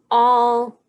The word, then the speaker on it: all: l all and so this is kind of tricky because the a sounds like an o that's why there's a heart above the a so all and there's double consonants at the end two l's and we know that if there's two consonants we just say it one time all spells all so with that word we